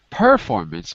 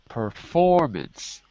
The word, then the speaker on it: performance: way just one thing the word performance has the stress on the second syllable not performance but performance performance okay yeah performance okay